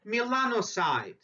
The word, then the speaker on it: melanocyte: same amount of melanocytes always try to pronounce new words so say Milano side Milano means dark colored